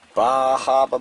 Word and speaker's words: Bar Harbor: Picked up a nice 2 cubic foot bag of Coast of Maine potting mix, Bahaba blend. That's how they say it up in Maine, Bahaba.